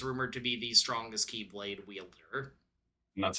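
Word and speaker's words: χ-blade: The X-Blade, which I think is still technically pronounced Keyblade.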